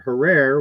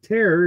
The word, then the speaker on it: Herer: know like Jack hair I always pronounced it Herrera which was wrong and I was told it's hair like Terror so my Jack Herer is Jack Terror and he's a [